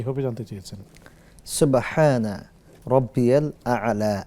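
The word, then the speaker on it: سبحان ربي الأعلى: শেখ, সুবহান রাব্বিয়াল আলা, আসলে এই শব্দের উচ্চারণটা কি হবে জানতে চেয়েছেন? সুবহানা রব্বিয়াল আ'লা, আল আ'লা মনে রাখতে হবে।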